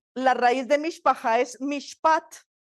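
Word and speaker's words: משפט: raíz de mishpaja es mishpat con t final m i s h p a t mishpat y mishpat significa equidad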